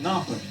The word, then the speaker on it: Norfolk: You have to say it like that, Norfolk.